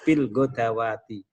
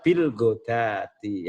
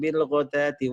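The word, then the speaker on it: بالغداة: yad'auna rabbahum bil godati, itu dibaca bil godawati. Itu kan kalau mushaf Madinah, ya, nanti dicek itu kan dalnya di fathah, kemudian wawunya ada fathah berdiri. Nah, itu rata-rata orang membacanya yang belum ngaji nggak ditalkin itu jadinya bacanya bil godawati. Ya, padahal bil godati ya.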